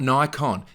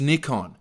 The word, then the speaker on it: Nikon: I'm sorry Yanks Americans it's not Nikon it's Nikon it's Nikon Nikon there's no night I studied Japanese for a while there is no nigh sound in the Japanese vocabulary it's knee Nikon say it properly